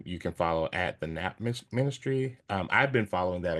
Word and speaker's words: Nap: Phonetically, like N as in Nancy, or Oh, is it nap, M? NAP. Ah, nap, like Taking a taking a nap.